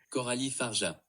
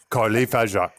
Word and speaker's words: Coralie Fargeat: Coralie Fargeat. There we go. Did you hear it? Do it again. Coralie Fargeat. Coralie Fargeat. Okay, Coralie Fargeat or something. Coralie Fargeat.